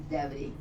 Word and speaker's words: debris: अब बतलाइए right word, इसका pronunciation है डेवरी, डेवरी एसएलए।